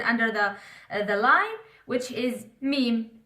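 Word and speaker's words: ميم: The last letter for today, it's written under the line, which is meme. M is easy to pronounce because also English it has M.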